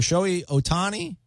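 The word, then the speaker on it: Shohei Ohtani: this show a honty guy Otani I'm sorry showy Otani I say it right I probably still insane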